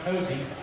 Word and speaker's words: Hosea: our grandpa, Hosea Ballou, Spelled Hosea. Hosea, of course pronounced Hosey.